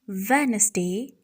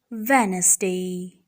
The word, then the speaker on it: Wednesday: The D in Wednesday is silent. This is Wednesday, Wednesday.